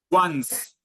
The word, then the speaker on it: once: this word here um we say once once yes okay is it sounds like I want you want but we write it differently okay okay yes once